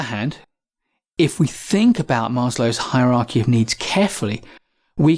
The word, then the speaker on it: Maslow: how to pronounce Abraham Maslow's name. Lots of people call it Maslow, and some people, recognizing that it's a Russian or Eastern European name, will pronounce the W as a V, Maslow.